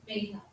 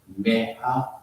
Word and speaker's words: Megha: So the G is silent. Yes. That's what, see, this dimension now. I saw your name right. I'm not saying this right. I'm not saying so. Thank you. So it's no G. Megha.